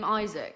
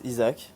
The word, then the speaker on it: Isack: Honestly, I mean, I know my name is Isack because Isack, perfect. it's how I've been called my whole life. But, you know, like, I know Isack is the British way or English way to say my name.